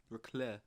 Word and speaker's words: raclette: Raclette. It's raclette. Just start mass importing raclette. I'm not lying. I looked up the pronunciation, and on YouTube there was some wanky